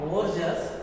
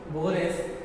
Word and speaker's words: Borges: So George Louis Borges, not Borges, we have to pronounce it as Borges.